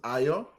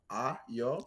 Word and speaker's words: Ayo: Again, my name is Ayo. It's pronounced as Ayo. Oh, damn. And so it's Ayo.